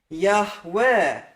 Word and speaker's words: Yahweh: We know we can't have that kametz at the end, or you can't contract to Yahu. We know you can't have the schwa at the beginning, or you can't contract to Yahu. So let's get the true vowels in here.